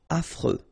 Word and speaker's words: affreux: Final X not pronounced. And then you get this freux. Freux. Affreux.